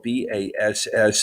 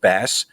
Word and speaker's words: bass: little thing here that uh even though it is spelled b-a-s-s this is not a phishing website this is a music website and so it's not pronounced bass it's pronounced bass i'm just saying so i'm